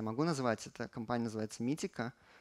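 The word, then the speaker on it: Meetecho: назвать это компания заводиться митико пишется здесь немного не так но они советуют произносить их именно так и делают они такой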